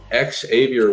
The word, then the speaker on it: Xavier: of the new day Xavier woods make sure you pronounce the X and Big E is